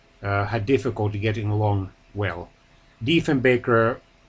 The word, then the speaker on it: Diefenbaker: Diefenbaker even criticized Kennedy for mispronouncing his last name as Diefenbacher.